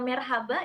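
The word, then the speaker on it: Merhaba: Jadi dibacanya marhaba dan dijawabnya juga dengan marhaba.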